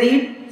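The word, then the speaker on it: read: पहला साउंड होता है फर्स्ट फॉर्म को पढ़ते हैं रीड सेकंड और थर्ड को पढ़ते हैं रेड सेम स्पेलिंग रहेगी पर प्रोनंसिएशन जो होता है उच्चारण जो होता है वो चेंज हो जाएगा रेड बुक्स अब यहां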